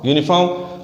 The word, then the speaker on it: uniform: Whenever the sound or pronunciation of u is exact and its own, then we don't use n with u. Then we put a.